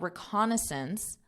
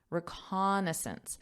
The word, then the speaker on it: reconnaissance: To conduct detailed reconnaissance. Notice this. This looks like a pretty long word here. Reconnaissance. Reconnaissance. So that syllable stress is reconnaissance.